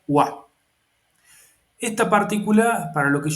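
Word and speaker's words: は: Eh, como ustedes ven, si ven la letra es la letra eh ja del giriragana, pero cuando se usa como partícula no se pronuncia ja, se pronuncia wa.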